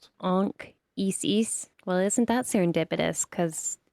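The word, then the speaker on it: Anchises: His name Anchesis if you pronounce it correctly is probably anis like ank like an Isis almost Ankis.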